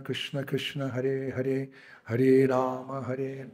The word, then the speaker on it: Rama: Like, Hare Krishna, Krishna, Krishna, Hare Hare, Hare Ram, Ram, Ram, Hare Hare. Prabhupada said, stop that nonsense. Like, whoa. What, Prabhupada? Stop that nonsense. What? It's Rama. Krishna's name is Rama.